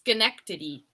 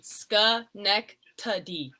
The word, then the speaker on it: Schenectady: Kate oh yeah Duncan it's pronounced Schenectady just connect to the sky neck tuddy I know it looks like I don't even know what it looks like but yes Schenectady you have to go